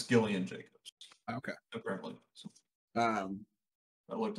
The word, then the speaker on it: Gillian Jacobs: It's Gillian Jacobs. Okay. Apparently. So, I looked up the phonetic pronunciation.